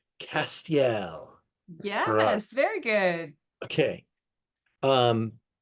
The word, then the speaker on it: Castiel: us about your fantastic wine let's try the pronunciation Castel yes very good okay um uh this is